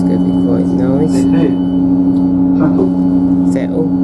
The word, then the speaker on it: Settle: Settle, that's how you say it, and I've got all